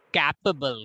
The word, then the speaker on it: capable: The pronunciation is capable. Capable. Capable. Capable. Capable. So capable. There are 3 syllables. Okay, capable and 3 syllable, and K will be having more emphasis.